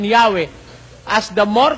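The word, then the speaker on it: Yahweh: Although inclining to view the pronunciation Yahwe as the more correct way, we have retained the form Jehovah because of people's familiarity with it in the 14th century.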